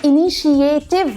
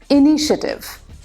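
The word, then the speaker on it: initiative: मगर वो इनिशिएटिव नहीं होता। देन वी से इट लाइक दिस इनिशिएटिव। शिएटिव नहीं शिटिव हो जाता है।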